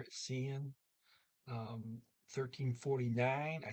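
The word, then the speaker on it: siden: c in the s-i-d-e-n the d is silent there at cn um 1349.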